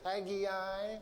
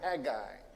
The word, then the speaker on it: Haggai: well we're studying the book of Haggai is it Maggie I that's how my third grade Sunday school teacher pronounced it or egg guy two syllables hey cuz we're in